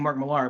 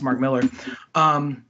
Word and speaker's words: Mark Millar: or Mark Millar I think so you sing Mark Millar but apparently it's pronounced Mark Millar he apparently in sold it all his IP